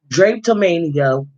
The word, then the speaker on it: drapetomania: how do you say it drapes of mania drape to mania okay drapetomania wow so he made up just